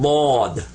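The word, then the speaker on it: ضاد: a funny way, but most people that don't know Arabic, when they pronounce it, they just pronounce another D. But it's not. It's actually Bod. And this is Sawd and Bod.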